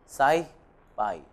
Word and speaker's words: SciPy: This is open source of SciPy itself. It is name of a package within Python. How is it pronounced? SciPy. Sci, just like in sci or in scientific. Sci for scientific, pi for Python, pi.